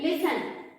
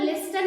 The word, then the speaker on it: listen: ठीक है, एग्जाम्पल के तौर पर आप देख सकते हैं लिसन, LISTEN. देखिए यहाँ पर LISTEN, लिसन को लिस्टन नहीं बोला जाता है. देखिए टी है लेकिन टी का प्रोनाउंसिएशन नहीं किया जाता है.